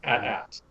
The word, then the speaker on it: AT: I can see Brian's about to explode, but according to Lucasfilm themselves, the correct pronunciation is rhymes with hat. It is at.